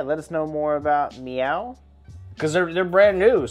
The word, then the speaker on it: MEOVV: looked up how to say their name cuz it's spelled Meo WV but it's pronounced meow that's that's according according